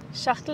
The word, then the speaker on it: Schachtel: Almost. Not that. Streak holes shatal. Shatal. Schachtel ist richtig. Ist right, sorry. Ye kuch khane ki cheez hai? Nahi. Ek cheez hai bas. It's a thing. Streichholz Schachtel.